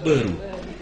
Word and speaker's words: Waru: Bapak tulis Waru, orang sini bilang Beru.